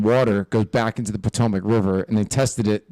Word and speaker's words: Potomac: Potomac? Potomac, yeah.